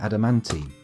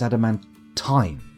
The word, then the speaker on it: adamantine: I keep mispronouncing it adamantine. Remember, it's adamantine. Adamantine.